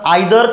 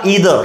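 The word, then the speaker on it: either: निदर निदर ऑफ तर generally इ आयदर किंवा इदर हे दोन्ही प्रोनन्सिएशन बरोबर आहे नायदर किंवा निदर हे दोन्ही प्रोन्सशन बरोबर येतात लक्षात ठेवा जनरली आपण इंडियन लोक नायदर म्हणतो पण निदर सुद्धा एक्सेप्टेबल आहे काही प्रॉब्लेम नाही याच्यानंतर जे नाऊन घेतो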